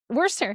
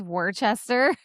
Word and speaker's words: Worcester: Worcester. When Yeah. I said it as Worcester.